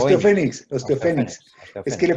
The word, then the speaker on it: Osteophoenix: Me cuesta pronunciarlo, ¿eh? Osteophonics. Osteofénix, Osteofénix.